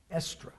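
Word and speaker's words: Eastre: the festival of estra that's pronounced estra but it's spelled e-a-s-t-r-e estra was the goddess of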